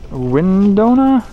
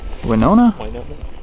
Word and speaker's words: Winona: That is from Windona, Minnesota. Did I pronounce that right? Winona. Sorry if you live there and I mispronounced that.